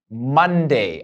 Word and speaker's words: Monday: as แปล ว่า เช่น Monday อ่ะ เป็น โอเนาะ โอ ที่ ไม่ ได้ ออก เสียง โอ แต่ เป็น ออก เสียง อะ นะ ครับ Monday Love อ่ะ ไม่